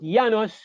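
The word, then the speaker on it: János: But Janos, at the beginning in Hungary, the J sounds like a Y.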